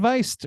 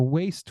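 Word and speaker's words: Wiest: I saw okay Dian viist was or waste Weist I'm so sorry don't know how to pronounce your last name I think it's vist I think it's pronounced vist nailed it was the first to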